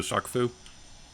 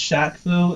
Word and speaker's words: Shaq Fu: Did you just say Shock Fu? I don't know. I don't even know what that is. It's pronounced Shaq Fu, and it's a fighting game.